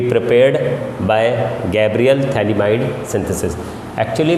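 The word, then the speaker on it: phthalimide: होता है यहाँ पे, थैलिमाइड है ये, PH थैलिमाइड इसको कहते हैं, PH थैलिमाइड, जब PH इसकी स्पेलिंग है।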